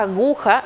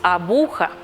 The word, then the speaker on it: aguja: decir correctamente trastorno o le cambiamos de sonido a aguja y decimos abuja son incorrecciones fonéticas las